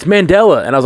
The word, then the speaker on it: Mandela: yeah whichever you want yes mandela effect is how you say the man's name i always thought mandala effect i've always heard it